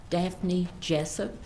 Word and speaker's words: Daphne Jessup: court and the jury your full name and spell it dapne Jessup da and talk into the microphone d a